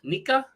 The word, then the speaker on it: Nika: Bana Stewart Asia Wilson and then uh Nika Nika is how you say it neca na na